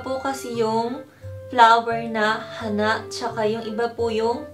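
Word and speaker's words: 花: Pag flower, hana. Pataas po, hana. Pag nose naman po ay hana. May pagka, pababa po yung pag-pronounce niya.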